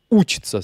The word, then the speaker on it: учится: Par contre, quand on dit il apprend ou il étudie, ça va être on учится, c'est-à-dire que l'accent tonique, il passe sur le ou ici, au lieu d'être sur le i.